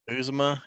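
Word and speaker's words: Uzomah: But when did Azuma is it Azuma? Bengals tied in. Uzma, yeah. Okay, you said it better, I think. Uzuma.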